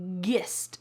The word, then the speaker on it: gist: Notice that this is not pronounced gist.